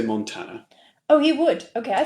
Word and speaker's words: Montana: Okay, so how did you pronounce it? I would say Montana. Oh, he would. Okay, I thought you said Montana.